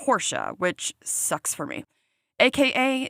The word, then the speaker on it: Rocha: It looks like Roachcha, but it's pronounced Horscha, which sucks for me.